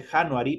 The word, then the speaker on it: January: January se escribe January, pero se pronuncia January como estuviera con una L. January.